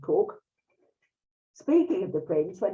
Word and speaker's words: Coke: Lady Mary Cook, it's spelt Coke, but pronounced Cook.